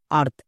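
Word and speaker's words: earth: আর্থ আ থ রেপ আর্থ এবার হচ্ছে সঠিক উচ্চারণ তাহলে খুবই সিম্পল নিয়ম শব্দের একদম শেষে যদি টিএইচ থাকে টিএইচ এর জন্য সবসময় থ ইউজ করবো দো কিন্তু হবেই না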